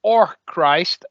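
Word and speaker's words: Orcrist: It's because it was pronounced Orchrist, but everyone used to say exactly what you, which was oh Christ.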